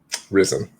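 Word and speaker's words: Ryzen: like risen three or something like that it's pronounced verizon risen right as amd has risen from the ashes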